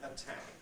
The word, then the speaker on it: attack: You get aspiration because it's at the beginning of the syllable. Likewise in attack.